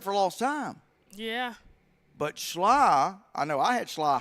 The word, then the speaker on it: Schley: Schley. Okay. Schley. Not sly, but Schley.